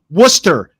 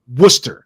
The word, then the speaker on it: Worcester: England had their way the state would be pronounced Metts because you don't need the center like Worcester w oce s t e r Worcester it doesn't make any sense wer why is